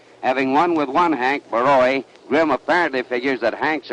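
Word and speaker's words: Borowy: The cab driver that I came out here with insisted on calling Baroy Barroy, and I told him no, that the name properly pronounced was Baroy.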